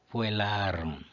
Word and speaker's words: puellarum: Puellarum, regra 2. Quando a penúltima é longa, o acento fica na penúltima.